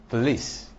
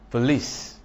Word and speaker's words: police: In a word like police, police, machine, machine, charade, facade, garage, you discover that the syllable that contains the schwa does not take stress.